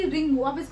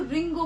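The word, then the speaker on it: りんご: बहुत साइलेंट होता है जिसे कि रिंकू रिंकू नहीं बोलोगे आप इसको रिंग को बोलोगे रिंग को को देश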